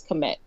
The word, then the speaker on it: Kemet: well the country well ancient egypt is actually pronounced commit however apparently you can't just start naming stuff